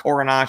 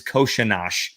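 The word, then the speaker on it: Kořenář: long time ago like it's not coronage it's not coronar the coaches keep saying it wrong uh it is koshinash so um that's how he says if you want to say it right that's how you say it so there you go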